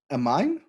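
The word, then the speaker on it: Aminé: we have limbo by amine so they're supposed to be an accent on the e there so i think like anime but you're dyslexic well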